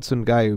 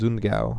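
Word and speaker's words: Sundgau: I would call it Sungayu because that's how it's spelled, but apparently it's Zungao.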